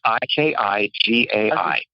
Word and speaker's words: Ikigai: called Ikigai, and it's Ikigai. And I don't know if you've ever seen Ikijei? It's Ikigai. And it's a Japanese term. Ikigai is how you say it.